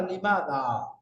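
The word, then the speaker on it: لِمَهْ: শব্দ নাই বাক্য নাই তখন শেষে একটা অতিরিক্ত হা যুক্ত হয় তখন পড়তে হয় লিমা উচ্চারণের সুবিধার্থে থেমে একটা হা যুক্ত হবে কি পড়তে হবে লিমা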